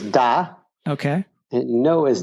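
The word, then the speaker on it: да: Yes is da.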